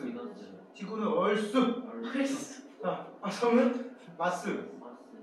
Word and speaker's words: Mars: 성은 마스. 마스, 옛날에 마르스라고 그러는데 지금은 R자를 발음해서 마스.